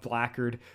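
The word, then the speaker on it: Blackguard: the fact that uh the pronunciation of of blackard which is so Black Guard m is a um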